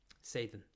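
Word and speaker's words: Saiden: uh it's spelt s-a-i-d-e-n sathyan um but it's pronounced with sort of like a soft th as of thd say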